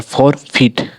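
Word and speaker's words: forfeit: जैसे कि एफ ओ आर फॉर फीट ई का उच्चारण फॉर फीट। फॉरफीट में ई का उच्चारण हो रहा है।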